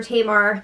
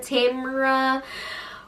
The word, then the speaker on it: Tamar: How is Kato still saying Tamar's name wrong? Are you serious? He's like, Tamara.